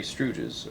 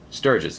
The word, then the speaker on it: Sturges: here he is planing Henry stroes or am I pronouncing that right uh let's see Dominic Cooper stures that's it always thought stroes um now I'm not